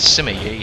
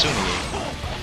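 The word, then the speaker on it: Sima Yi: Like, even though that says Simi Yi, is actually pronounced Sumi Yi, and Sun Quan is actually pronounced Sun Tuan.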